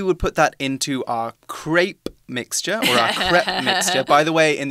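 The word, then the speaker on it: crêpe: put that into our crepe mixture by the way in the UK we say CREP all right not clip but just CREP yeah okay English UK English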